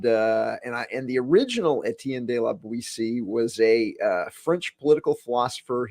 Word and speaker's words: Boetie: Boetie or Boetie? I've heard people say it both ways. So, or bow tie, say it incorrectly.